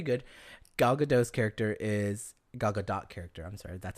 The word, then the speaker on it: Gal Gadot: League was pretty good gal gadot's character is gal gadot character I'm sorry that's how you say her